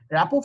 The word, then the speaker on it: rapport: RAPPORT. Rapport is, it's actually a French word, and its pronunciation is rapport. You do not pronounce the last T.